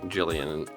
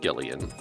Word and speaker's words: Gillian: Also, I keep saying Jillian when they pronounced it Gillian.